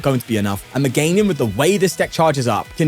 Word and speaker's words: Meganium: It is a Meganian deck, Mega Meganian deck. Sorry, Meganium. I see people in the comments saying that I'm pronouncing it wrong. Meganium, not a no.